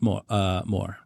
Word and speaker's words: mort: The T is silent because it's French. Oh, like the like c'est la vie, c'est l'amour. La petite Moore.